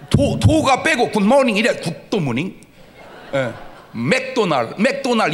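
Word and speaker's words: McDonald's: 맥도날 이 발음이 마그도나르도 이렇게 해야 돼.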